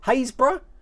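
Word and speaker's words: Happisburgh: go happy spur there happiest bird that's actually pronounced hey haysbruh haysbrough something like that it is nothing like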